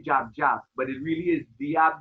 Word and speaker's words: Jab Jab: to me, is the jab jab. Jab jab. Really, or the real pronunciation is diab diab.